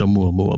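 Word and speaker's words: ʻOumuamua: Um uh it's a mua mua, by the way.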